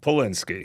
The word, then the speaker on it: Polinski: Now, you got to help me out with the last name because what's the correct way to pronounce the last name? Polinski.